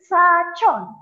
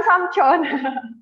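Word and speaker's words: 사촌: Sachon, bukan samchon. Wah, kok kayaknya kedengarannya sama nih, Sam. Kok kayak sachon, samchon. Kayaknya nggak ada bedanya nih. Sachon, yeo, sachon. Sachon itu adalah sepupu. Kalau samchon nanti jadi om.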